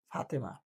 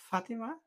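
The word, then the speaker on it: Fatima: যেমন আমাদের এখানে এর আগে একটা মেয়ে পড়তো, ওনার নাম ছিল ফাতেমা। তো এটা তো বাংলায় নাম ফাতেমা, ইংরেজিতে এটার উচ্চারণ কি হবে? It will be ফাতিমা, নট ফাতেমা।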